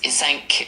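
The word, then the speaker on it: cinq: In French the number five is isank and it's spelled c i n q u e.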